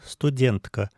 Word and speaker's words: студентка: Мон студентка. Здесь в слове студентка ударение также, как в русском, не на последний слог, а на предпоследний, потому что это относительно недавнее заимствование из русского языка.